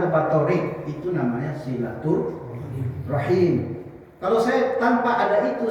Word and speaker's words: silaturahim: terus saya datang ke Pak thiq itu namanya silatur rahim kalau saya tanpa ada itu saya datang itu berkunjung itu namanya kunjungan ziarah namanya kalau dalam bahasa Arab ya tapi sudah kandung silaturahmi bahasa itu sudah kandung diucapkan silaturahabian sudah karena